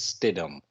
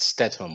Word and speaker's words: Stidham: His last name is Stidham, not Stetham or whatever.